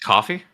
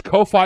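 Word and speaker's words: Ko-fi: Wait, is it not pronounced coffee? Because it's like buy me a coffee. It's both. Well, it's pronounced both. It's Kofi because it's co-inance and it's coffee because it's buying me a coffee.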